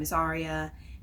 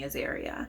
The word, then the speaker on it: Azaria: Hey, I'm Azaria. And she immediately pronounced my name wrong. Immediately. She's calling me Azaria.